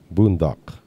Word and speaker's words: bundok: Talaga, yung bundok. Yeah, you look it up So- in Webster's dictionary. They spell it Boondok. Boondock.